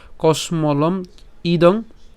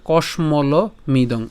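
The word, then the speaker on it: কশ্মলমিদম্: হয়ে যাবে ঠিক আছে তাইলে তার উচ্চারণটা কেমন হতে পারে কসমলম ইদং অথবা উচ্চারণ কেমন হবে কসমল মিদং এবার যা যেভাবে আপনাদের সুবিধা হয় সে সেভাবে উচ্চারণ করতে পারবেন এটাতে কোন অসুবিধা নেই এরপর হচ্ছে বিষমে সম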